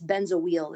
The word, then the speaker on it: benzoyl: what we call it it's benzo wheel is the pronunciation so that's benzoyl chloride